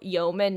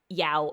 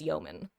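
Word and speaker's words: yeoman: By the way, for those who don't know, it's pronounced Bosen, not Boat Swain. It's also ymen, not Yao. I don't even know how people like to pronounce it, but it's yman.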